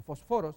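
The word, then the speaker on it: φωσφόρος: Entonces, notemos, fósforos, o fosforos es la pronunciación correcta, fósforos, en español decimos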